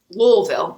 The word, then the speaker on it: Louisville: i'm in lexington and i'm going to louisville louisville that's how you say it on the one